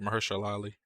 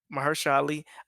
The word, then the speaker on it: Mahershala Ali: How do you pronounce his name? Yeah, you said it right, Mahershala Ali. Mahershala Ali.